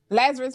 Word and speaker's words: Lazarus: LZ do you mind I say your name Lazarus huh Lazarus Reed yes so thank you for definitely coming